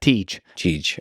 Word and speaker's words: Tej: Tej. Okay, Tej. It's TJ would be his name, but we call him Tej.